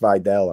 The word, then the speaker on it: Vidal: I gotta stop say it's it's pronounced Videl. And I keep Vidal. I'm just going to pronounce it the way it is. Vidal.